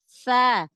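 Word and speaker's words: ث: tahu teorinya maka salah Jadi huruf tsa harusnya makhrajnya keluarnya dari ujung lidah ketemu dengan Gigi Sari atas nah kalau enggak tahu teorinya maka penyebutannya seperti Huruf ta huruf ujung lidahnya enggak dikeluarkan enggak ditemukan dengan ujung gigi seri atas maka jadi salah pengucapan makhrajnya Nah itu kaitannya dengan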